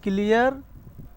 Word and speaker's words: clear: clear, ক্লিয়া মানে British উচ্চারণ, এই যে আর উচ্চারণ হয় না শেষে দিয়ে, ক্লিয়া।